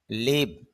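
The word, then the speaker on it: live: লাইভ জীবন্ত বা সরাসরি লিভ বাস করা খেয়াল করেন উভয়টাই বানানে এক হয় এল আই ভিই এল আই ভিই যদি লাইভ উচ্চারণ করেন তখন হবে সরাসরি আর লিভ উচ্চারণ করেন তখন হবে বাস করা লিভিং জীবন্ত লাইভলি প্রাণবন্ত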